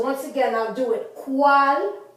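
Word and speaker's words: cuál: And the U is pronounced as almost like our W. Wa. So this is cual. Cuantos. You don't say cual. You don't say cuantos. You say cual.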